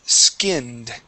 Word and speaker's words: skinned: is skined okay now you want to focus on only pronouncing the S here you're saying es skin all right uh we want to start with an S skinned try that skinned